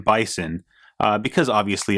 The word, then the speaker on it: Bison: to be called M bison uh because obviously it rhymes with M Tyson for Mike Tyson and